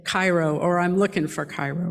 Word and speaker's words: Cairo: Now that was spelled C-A-I-R-O, like that great city in Egypt, Cairo. And I am convinced that those clannish people deliberately pronounced the name of that town Cairo so that any stranger would be immediately revealed right?